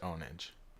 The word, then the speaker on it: Pwnage: It's spelled Pwnage, but it was pronounced Onage.